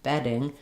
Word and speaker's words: bedding: but a flap. Bedding bedding. The tongue is touching in the space that it does for the T and the D. But and my voice is on like a D, but I'm not stopping there. I'm not saying bedding. I'm saying bedding. It's one roll of a rolled R.